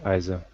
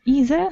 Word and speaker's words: either: a fat one so we have got two different variants of the pronunciation of this word we have either and either so both are correct so we can use them let's go on Sergei